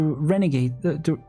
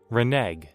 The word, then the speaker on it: renege: I'll go follow up, just to make sure the hospital doesn't find a way to renegade, what the heck, how do you pronounce it? Renege.